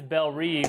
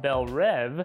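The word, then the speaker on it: Belle Reve: that this prison is Bel ree or if you're pronouncing it the correct French way Bel rev and that's the same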